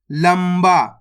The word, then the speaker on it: लंबा: जाएगा लंबा दोस्तों तो इसके अंदर अपन ने आधा मा का उच्चारण करा है वो क्यों करा है आपने चार अक्षर लिखे हो ग उसके अंदर एक अक्षर ये भी होगा बा ला को ऊपर अनुस्वार की मात्रा है उसके बाद वाला अक्षर की पहचान करनी है उसके बाद वाला अक्षर ये रहा बा तो अपन यहां पे आधा मा पढ़ देंगे लंबा देखो दोस्तों इस शब्द